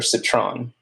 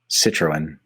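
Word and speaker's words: Citroën: So do you pronounce it Citroen or Citron? Citroen. I pronounce it Citroen.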